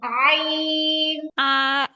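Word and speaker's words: عين: তারপরে বলেন এটা প্রথমে আই বলবেন আই বলে তারপর টান দিবেন মানে একটু খেয়াল করতে হবে আপু আপনি আ বলে টান দিবেন না আপনি প্রথমে উচ্চারণ করবেন আই আই আই বলে এটাকে আইন আইন আইন আইন টান হবে আপু আইন আইন মানে আইন এই আ বলে টানটা হবে না বুঝতে হবে আগে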